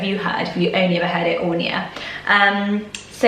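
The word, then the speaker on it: Áine: Ornia, we talked about Ornia before, and I pronounced it Aina because I know a Norwegian girl with this name, he says Aina, but in Irish you would say Ornia.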